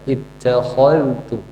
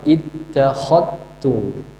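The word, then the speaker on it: اتخذتم: Atau misalkan kita ittakhadtum, kita bacanya dengan izhar. Ittakhad, jelaskan dzal, jelaskan ta. Ittakhadtum. Kalau Syu'bah idgham, ittakhadtum.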